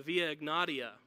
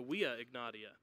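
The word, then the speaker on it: Via Egnatia: It was also on one of the major highways of the Roman Empire, the Via Ignatia, or if you want to pronounce it like a Roman, the Via Ignatia.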